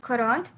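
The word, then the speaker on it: quarante: 40 you pronounce it coront.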